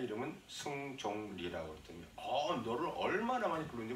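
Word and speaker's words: 승종 리: 제가 내 이름은 승종리라고 그랬더니 너를 얼마나 많이 부르는지 모른다는 거예요. 한 20분이나 방송으로 라디오를 들을 수 있도록 그 어나운서먼트 했다는 거야. 뭐라고 그러니까 승객리랬다. 나는 승객리가 아니라 승종리라고.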